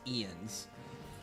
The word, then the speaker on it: Jens: jens out here no it's ian's it's how you say his name j-e-n-s is ian's probably need to keep